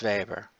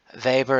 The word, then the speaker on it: Weber: spirit of capitalism so Weber is German German the W is pronounced with the V he came to America